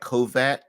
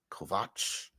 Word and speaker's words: Kovacs: CS is CH in Hungarian, like CH Kovac, because it looks like Kovac, Ash, but it's actually Vach, Kovac. But even in the show,